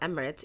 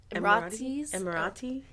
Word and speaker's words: Emirati: out how to say it's not Emirates it's say it I don't know you say it better I can't it's emirati you said it better